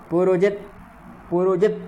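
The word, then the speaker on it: पुरोजित्: अगला पंक्ति जो है पुरोजित तकार हलंत है, उसके लिए उसका पूर्ण उच्चारण नहीं करना है।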